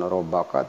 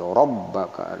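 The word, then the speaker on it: رَبَّكَ: Kemudian rabbaka, bukan robbaka tapi rabbaka, ada ditahan, ada tasdid.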